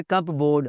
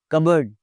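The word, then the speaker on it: cupboard: इट्स नॉट कप बोर्ड, अलमारी, कबर्ड, इट्स CORPS, इट्स not corps, फौजी दस्ते को, its core, core, corps commander नहीं होता, कोर कमांडर होता है।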